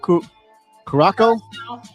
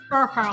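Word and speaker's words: Curaçao: Little light rum, some blue caraco. How you say it? Caraco? Caracal. Curacao.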